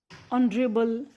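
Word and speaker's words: honourable: और जब हम इसके प्रोनाउंसिएशन करेंगे हेयर, किसके साउंड आ रहे? ई. इट कैन बी यूज एन. Are, honest, ऑनरेबल.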